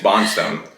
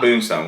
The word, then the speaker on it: Bondstone: Do believe it's pronounced Bondstone. Oh, and I haven't had a drop, so not a drop, but yes, Bondstone, not Bondstone.